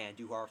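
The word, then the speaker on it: Andújar: and the red-hot Miguel Andujar, roll your R's, hits a home run to right field, and the Yankees are up 3-2. Great piece of hitting by Andujar.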